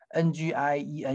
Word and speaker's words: 念: 牛念啊，注意这两个都有 ng 哈，牛 ngiu 牛 ngien 念哈，这个特殊